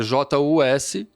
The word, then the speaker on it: Justum: E Justum é J-U-S-T-U-M.